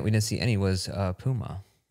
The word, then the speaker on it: Puma: Do you say Puma? Like, Puma. How do they want us to say it over in England? Oh, is that how you say it? They get mad at us for saying Puma. Puma. They're like, ooh, Puma.